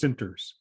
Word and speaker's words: Centers: It's pronounced Center. It's written Centers, but it's pronounced Sinters.